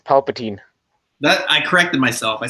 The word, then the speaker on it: Palpatine: And dude, it's Palpatine. That I corrected myself. I said Palpatine. I pronounced it.